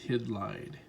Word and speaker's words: Hydlide: I used to think this was called Hydlide, but I read, that the correct pronunciation for this game is Hydlide.